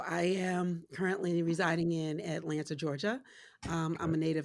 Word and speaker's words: Atlanta: I lived in Atlanta we only pronounce the T the people that live there say Atlanta with no te so I'm working on